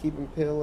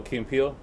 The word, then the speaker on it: Key and Peele: Just like Dave Chappelle, like telling what's his name, those two guys, I'm gonna say it wrong, Keep and Pill or whatever. What's his name? Oh, Key and Peele.